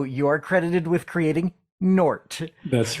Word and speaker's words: Gnort: You have to be from his planet to understand that the G is silent. Okay. So, you are credited with creating Nort.